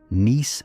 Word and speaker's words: Nice: The model they produced, known ever since as the Nice model, pronounced to rhyme with geese, described a solar system